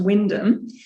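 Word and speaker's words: Wymondham: that's pronounced wymondum but in the strange way of things in england it's actually pronounced wyndham in norfolk not far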